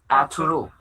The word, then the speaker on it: Ertuğrul: But Ertuğrul. Arturo. Yes. Oh, you don't pronounce the G with the dash. Oh, it's silence. It's Actually, like silence.